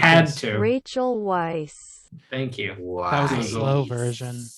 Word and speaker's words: Rachel Weisz: I had to look up Rachel Weisz pronunciation, which for the Had record sounds like had this. to. Rachel Weisz.